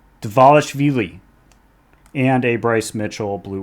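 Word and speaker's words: Dvalishvili: Say it like it looks. Divalishvili.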